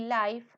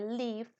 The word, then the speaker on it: live: Entonces el ejemplo es I live in Santa Monica, live, no live, ni life, sino live. El verbo vivir se pronuncia live.